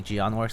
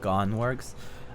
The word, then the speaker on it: Geonworks: people who didn't know how to pronounce that it's jion works it's it's a it's it's actually jion works apparently it's not gone works uh probably just something